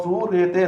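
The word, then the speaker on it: صورت: अब आप जब इसकी हिज्जे करोगे तो स्वाद वाव सू रे ते रत, सूरत, इस तरह से हम इसे पढ़ेंगे।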